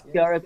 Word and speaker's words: Kiara: number 5, we got Kira Pearson. I may Yeah, pronounce it. Kiara. Kiara. It's Kiara Pearson.